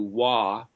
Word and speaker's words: Vav: But you might have a Vav in there. Every time you have the O sound, you either have the letter Vav, or what somebody would pronounce as a W-A-W, Wah, or it's got a